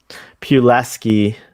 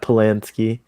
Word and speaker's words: Pulaski: check it's okay it's it's pronounced data as polanski pulaski not polanski oh yeah diane